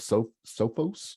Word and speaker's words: Sophos: So one of the most recent announcements was made by a company called Sophos. I guess is how you say it, S-O-P-H-O-S.